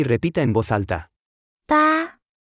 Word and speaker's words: 八: 八，八，八，八，八，八，八。 Se pronuncia con el primer tono.